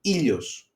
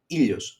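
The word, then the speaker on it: ήλιος: well, all they are pronounced as E, very easy, E, okay, like in C, for example. And the example is Ilios, Ilios, that means sun, okay.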